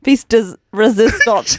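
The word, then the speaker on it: pièce de résistance: This is Phoebe's piece does hang on, let me say it properly. Piece does resistance.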